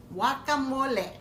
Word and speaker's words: guacamole: promised we are going to make welcome olap Whatcom wooly that's how we pronounce it guacamole what Chloe that's my director producer shouting at me directing Tom ol z jr.